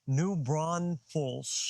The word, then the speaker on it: New Braunfels: New Braunfels. New Braunfels. There's no S in the middle.